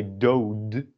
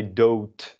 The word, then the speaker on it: dood: dood, death or dead, you don't say dood, but you say dood with a T.